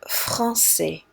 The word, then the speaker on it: français: And this special kind of C says S like snake, like français.